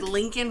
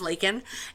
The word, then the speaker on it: Laken: say her name properly he said Lincoln Riley her name is Laken and then he tried